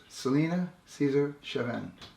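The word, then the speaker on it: Celina Caesar-Chavannes: Andrew Terry Pasieka here with Celina Caesar Chavannes. And is that correct? Or how that is a correct pronunciation, yes.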